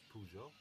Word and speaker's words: Peugeot: So, in the mid-90s uh Citroen and Peugeot uh Pezo here in Greece it's pronounced Pezo. I think the right one is Peugeot for the rest of the Europe for the rest of the world.